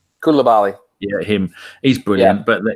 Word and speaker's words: Koulibaly: The other player we're not mentioning is Kubalai. How do you say his name? Koulibaly.